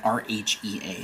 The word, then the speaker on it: Rhea: How do you pronounce the name R-H-E-A?